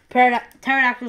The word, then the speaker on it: Pterodactyl: So it's trying to make silent letters, like P is for Pterodactyl, and because Pterodactyl starts with P, but the P is silent.